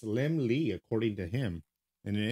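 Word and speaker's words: Laemmle: little lamb and is pronounced as if it were spelled lim lee okay yeah i'll never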